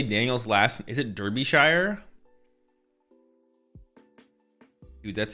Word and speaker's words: Derbyshire: Is it Derbyshire?